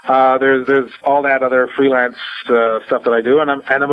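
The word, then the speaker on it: Stuph: is now called The Stuff File, and stuff is spelled S-T-U-P-H, which are my initials, right?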